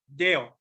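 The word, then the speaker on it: δέω: Deo. This is the pronunciation.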